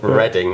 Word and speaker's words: Reading: Yeah, we also have the city called Reading. That's spelled reading. Yeah. It's spelt reading.